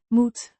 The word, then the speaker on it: moet: It's the first person singular form of the verb m to have to must pronounced moot rhymes with boat but with a shorter o sound.